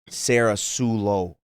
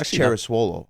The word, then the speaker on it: Papazoglou: Like my last name's, it could be, I guess, mispronounced, but I kind of have like a Caker way that people would say it. They would say like Sarah Sulo, or that was like probably the best like Caker way of saying it. Sarah Sulo. Yeah. Right, but it's Sarasulo. pronounced Cheraswolo. It's not that bad.